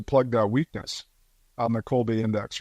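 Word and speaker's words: Kolbe: Staffing in general and the Colby again is spelled k o lbe and it's really helpful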